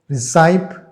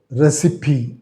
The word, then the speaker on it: recipe: actually re e c i p some people pronounce this recpe it is not recpe actually recipe recipe the pronunciation recipe means uh the method